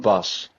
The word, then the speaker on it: Bas: Cuz uh my name is pronounced bus. Bus. B A S. Bus like a like a driving a bus.